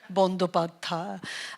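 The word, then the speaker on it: Bandyopadhyay: It's a name that was given to us by the British because they couldn't be bothered to pronounce the actual name, Bandhopadhyay.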